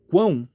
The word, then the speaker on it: quão: três impulsos de ar agora quão Qual que é o som mais forte o som do U do a ou do o ão ão percebe-se que é o som do a por isso que o a é vogal na sílaba da na sílaba quão